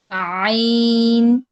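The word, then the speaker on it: ع: আচ্ছা আইন আর হার মাখরাজ হচ্ছে গিয়ে একই জায়গা থেকে হলকের মধ্যখান থেকে। হ্যাঁ। হা আর আইন এই দুইটাই হলকের মধ্যখান থেকে আসে। আইন আইন হলকের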